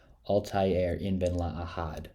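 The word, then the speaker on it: Altaïr Ibn-La'Ahad: Creed one where we play as Master assassin Alti a inen la Ahad and that is how you say his name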